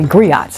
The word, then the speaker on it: griot: oral tradition provided by griots I'm calling them griots but really I'm sorry I I mispronounced that it's Grio okay um but many